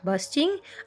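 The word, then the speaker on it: bursting: तो the fire crackers are बस्टिंग, are silent होता है इसलिए बस्टिंग बोलते हैं।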